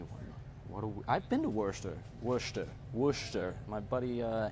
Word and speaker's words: Worcester: Spurs I think that'd be Worcester pronounced Katherine pronounced Worcester Worcester West I was that is a funny one what I've been to werster werster woosh there my buddy Andrew Newman went